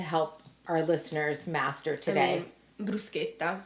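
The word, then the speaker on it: bruschetta: our listeners Master today brusa brusa it's not Bretta um then I guess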